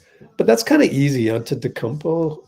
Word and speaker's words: Antetokounmpo: Antetokounmpo. It's like you just read every letter.